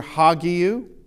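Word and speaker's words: ἅγιος: you have uh this is the hard breath mark that is the soft breath mark and I've put two examples here uh hagu uh which is holy uh and you hear hagiu with the the h but this is a nare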